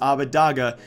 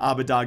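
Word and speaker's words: Odoamne: up videos out there Abba Dawg has said his own pronunciation was Ovid Agha not Abba Dawg a although it smelled like Abba dog a I think there's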